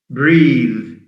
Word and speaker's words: breathe: And the sound is a the sound, voiced. Teeth. Bathe, B-A-T-H-E, bathe, that's a verb, the sound. Breathe, breathe, B-R-E-A-T-H-E. So breathe is a verb which has an E at the end. But breath is a noun without an E.